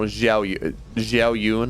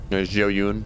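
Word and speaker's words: 赵云: And Zoun took his name after the Chinese general Zhao Yun, I believe, is how it's pronounced. So it is Zoun. Zhao Yun, something like that. It's hard for Western tongues to pronounce, but it's most certainly not Zoun.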